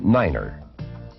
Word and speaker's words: nine: to represent these letters nine is the only number pronounced differently it is said as niner the key to good